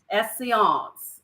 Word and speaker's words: Esseance: say it wrong because it's not Essence help me out Ruby is Divina Seance essience okay so when you guys say that's like you know essience and it smells just